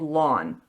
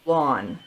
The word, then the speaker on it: ln: this is sometimes called lawn and we'll write this down formally in a second so in terms of notation they write it Ln but it's pronounced lawn and it's just a